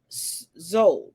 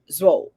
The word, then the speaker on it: Szold: as Israel with Miss Henrietta Z I think that's how you pronounce it it's SZ o l d if I mispronounce it my apologies I've heard so many different pronunciations I'm taking the middle ground so we'll just say Z December 21st 1860 to